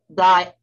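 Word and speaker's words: diindolylmethane: It's pronounced diindolymethane.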